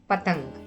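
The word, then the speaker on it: पतंग: Hence the sound of the bindu in this word is ing. So P plus T plus in plus G making it to sound patang.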